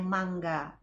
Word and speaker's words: manga: Ya, manga itu komik ya, atau manga tapi dibacanya mangga.